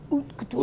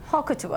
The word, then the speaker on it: haute couture: Haute couture.